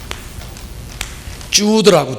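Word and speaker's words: Jude: 주드라고, 주드. 뭐 이거는 한국 발음으로 유드라고도 하고 뭐 주드라고도 하고, 어떻든 다른 유다다, 가룟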